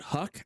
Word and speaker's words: Houck: This is a YouTube video that has an ad running, but it's Houck.